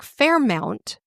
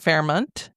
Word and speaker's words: Fairmount: Yeah, I would have said it as Fairmount, and then I was like, is it Fairmont? But it's actually Farmont, I think is how you say it. At least according to the internet.